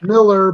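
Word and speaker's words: Millar: his face it's it's mark miller milar or miller i don't know how you pronounce it yeah miller but yeah it's spelled with an a like he he's always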